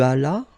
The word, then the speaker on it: allas: J'allais, tu allas, remember final S is not pronounced.